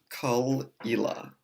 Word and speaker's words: Caol Ila: LA but as the box says it is pronounced cul ela before I get started I should actually correct